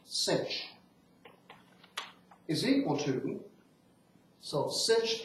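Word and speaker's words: sinh: slightly okay hyperbolic sign H for hyperbolic usually pronounced cinch is equal to so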